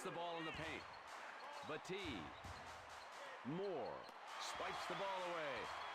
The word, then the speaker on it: Battier: Ooh, he really I guess they pronounce Batee Battier.